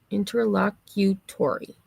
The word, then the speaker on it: interlocutory: So, it's pronounced just as it's spelled. Interlocutory.